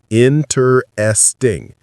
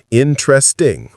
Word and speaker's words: interesting: Interesting. That's textbook pronunciation, but it's not real life pronunciation. Native speakers say it with three syllables, interesting or interesting. The middle syllable gets compressed or sometimes disappears completely.